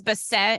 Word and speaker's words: Bassett: So my last name is Bassett, and I'm always like, when people want to spell it, I'm like, it rhymes with cassette, and then you know